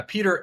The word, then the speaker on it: Pieter: Peter. It's spelled funny though. My name is Dutch.